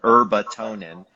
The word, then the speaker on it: herbatonin: exactly as it's spelled, herbatonin.